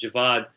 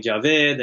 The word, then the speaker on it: Javad: i know that so my name is javad it's a very difficult name for white people to say and that bothered me my entire life because people would mispronounce it and pakistanis actually mispronounce it too they call me javed and all sorts of